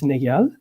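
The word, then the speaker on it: Néel: lot femke fossipol for correcting my pronunciation of niel i used to call it neil but i found it's negal medal for his contribution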